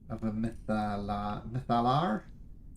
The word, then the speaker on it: Mythalar: But you haven't heard of a mythalar? Please. I've always said a mythalar. Mythalar. That's the official pronunciation now.